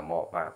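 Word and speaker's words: 몸: आधा म त्यसो भने यसलाई हामीले उच्चारण गर्दा मोम कसरी मोम मो आदि म मोम मोम भन्नु पऱ्यो है मोम भन्नु पऱ्यो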